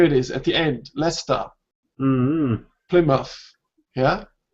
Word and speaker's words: Leicester: Leicester. Plymouth. Yeah? So this is the schwa sound here. Usually the words ending in ER have a schwa sound.